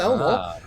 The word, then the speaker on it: Ellmor: It's spelled completely different, but it's ELLMOR, but you know, it's still Elmore.